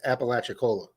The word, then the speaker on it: Apalachicola: historic hotel in apalachicola for those folks that didn't know how to pronounce that it's apalachicola it may not look like apalachicola but it's apalachicola thanks for popping in